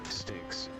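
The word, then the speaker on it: Styx: Sticks. Sticks. Tell them to come towards me. Okay. Sticks. Are you Mr. Shelly Sticks wife? Well, Miss Shalley Stick's wife.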